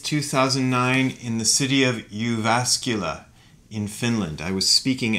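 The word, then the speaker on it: Jyväskylä: from august 28 2009 in the city of uvascula in finland i was speaking at a library there and that is actually pronounced you vascula it's a very strange looking word to us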